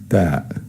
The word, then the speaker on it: ت: The third letter is ta, ta. It's pronounced like t, like in the letter T in the English word tell or toy.